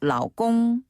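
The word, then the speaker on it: 老公: 요 발음은요, 위에서 아래로 뚝 떨어지는 네. 짱푸. 짱푸. 그리고 남편을 부르는 애칭 가운데 또 라오꽁.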